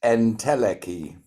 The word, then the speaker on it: Entelechy: It's pronounced Entelechy. Entelechy, oh, like intelligence, I get it.